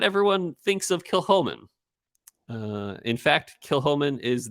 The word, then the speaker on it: Kilchoman: scenic which is uh you might see it and read it as kill Coleman but it's pronounced Kil Holman and uh it's it's